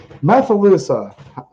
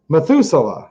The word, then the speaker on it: Methuselah: um let's see here methylusa i probably pronounce that wrong methuselah there you go what